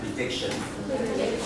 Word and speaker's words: prediction: So like number 2 word on the second syllable is prediction.